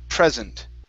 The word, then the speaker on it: present: word here is okay present instead of present okay stresses at the very beginning present present okay so this